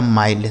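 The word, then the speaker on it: mild: एम आई एल डी, एम से हो गया दोस्तों मैं, इस आई का उच्चारण आई, एल से आधा ला और डी से ड, लिखा माइल्ड। समझ गए ना?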